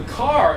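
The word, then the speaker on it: Kerr: which this is uh k r r r but pronounce the car uh they were imported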